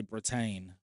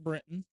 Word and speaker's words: Britton: My pronunciation wanted me to say Britain, but I refrained and went Britton.